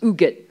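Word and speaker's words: Huguette: her name is pronounced uget to me sounds like who gets all right okay wrong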